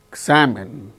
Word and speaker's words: examine: is followed by her in the word perhaps receive examine so in the case of all these six words the second syllable is a stressed and the remaining syllables are not stressed so which syllable gains